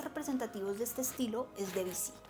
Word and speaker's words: Debussy: Uno de los compositores más representativos de este estilo es Debussy. Muchos lo pronuncian Debussy, pero es una manera incorrecta de pronunciar este nombre.